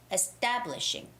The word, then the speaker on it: establishing: okay it's your name establishing the syllable stress of the stress goes on to establishing establishing establishing okay so ta has the stress oh dominic establishing